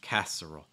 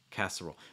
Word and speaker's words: casserole: green bean casserole um stressing the first syllable set that's the one that you really want to make sure you pronounce clearly with the a sounds like cat everything else can be more relaxed casserole casserole this is